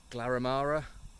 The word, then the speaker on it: Glaramara: Not sure what the plan is today, but I'll pack up in a bit and go up Glaramara. I think I finally got that right after mispronouncing it so many times, and then make a plan from there.